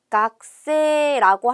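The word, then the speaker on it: 学生: 일본어로 크세이라고 써 있는데요 각세 발음 어떻게 하냐면 각세 아고 합니다 각세 아고 해서이 쿠 발음은 약간 받침 럼 되고 세이라고 써 있는 건 장음으로 발음을 할 거예요 그래서 학생은 각세 아고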